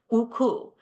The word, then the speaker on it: UCU: us refer to it uku using the Ukrainian pronunciation of the acronym the work that we